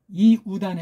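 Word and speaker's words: Ἰούδαν: 그렇죠 이단 유단 그렇죠 이걸 유라고 하면 안 돼요 이단 해야 돼요 이단을 빨랑 하니까 어떻게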